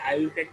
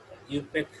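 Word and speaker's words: IUPAC: ইউপ্যাক নাম হল আরএস অনেকে আইপ্যাক উচ্চারণ করেন আইপ্যাক হবে না এটাকে ইউপ্যাক উচ্চারণ করা হয় international union of pure and applied chemistry so সো এখানে আর এস সিস্টেম এপ্লাই হয়।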